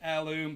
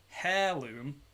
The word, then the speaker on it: heirloom: I don't know why I said heirloom. That's not how you pronounce that word. Heirloom.